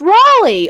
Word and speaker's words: Raleigh: No, it is pronounced Raleigh. Raleigh. Because Leigh is Lee.